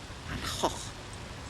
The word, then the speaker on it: Van Gogh: Of course, my husband, being Dutch background, says Van Gogh. He doesn't say that. That's the proper Dutch pronunciation. We say Van Gogh here.